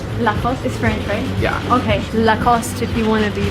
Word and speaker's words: Lacoste: me what the right around the shop oh the cost the cost so no II don't like lost